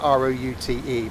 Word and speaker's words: route: We spell it R-O-U-T-E, pronounce it R-O-O-T. Americans call it route. Because they don't have a paper round, they have a paper route.